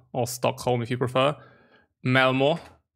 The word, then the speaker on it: Malmö: Malmö. I think that's the way you pronounce it. No, it's Malmö.